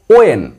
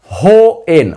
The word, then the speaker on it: when: আমরা actual pronunciation করব ওয়েন, নট হো এন, হ নট হ, ও ওয়েন, WHEN ওয়েন।